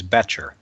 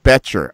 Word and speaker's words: Becher: And tonight we're going to talk to Shawn Becher. Is it Becher? Am I pronouncing it correctly? You're very close. It's Becher. Becher.